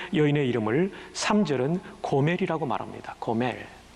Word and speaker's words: 고멜: 고멜. 히브리 발음 그대로 말하면 고메르, 이렇게 발음할 수 있습니다.